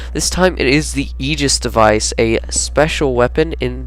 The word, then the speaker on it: aegis: 2 weapon breakdown this time it is the aegis device a special weapon in the energy category and yes i did say that right it is the aegis device um that took me a little bit